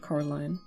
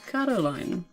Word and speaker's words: Coraline: They get your name wrong, you know. They get saying Coraline. Not Caroline. Not Caroline at all.